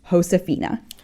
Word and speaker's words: Josefina: Remember that in Spanish J is pronounced like H. That means Hosaphina's name is pronounced Hosaphina.